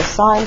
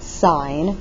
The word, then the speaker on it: sine: And so the most common ratios are sine, cosine, and tangent. So the abbreviation for sine is just S-I-N. So it's pronounced sine with an E and not sin, as the abbreviation says.